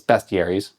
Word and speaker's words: bestiaries: And that's right, I said it right. It's bestiaries. I don't like it, but it's bestiary.